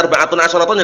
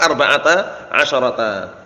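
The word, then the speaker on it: أربعةَ عشرَ: Jadi antum bacanya arba'atun asyaratun ya keliru. Tetap arba'ata asyarata.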